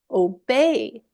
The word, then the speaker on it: obey: These words are stressed on the second syllable. So the sound is Hello. Obey before today.